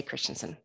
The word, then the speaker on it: Christiansen: of words so and Christiansen is my last name we say Christensen so um a little